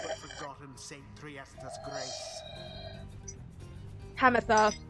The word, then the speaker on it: Pamitha: Hamatha is the correct pronunciation, so I was right the first time.